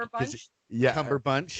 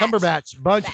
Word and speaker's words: Cumberbatch: Cumberbatch. Did I say it right? No, it's Batch. Cumberbatch, Batch, whatever.